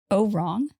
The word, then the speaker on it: Ourang: Oh, wrong? Oh, wrong. Yeah, I specifically looked up how to pronounce it, and I put it in parentheses as oh, wrong. But it's spelled Ourang, Medan.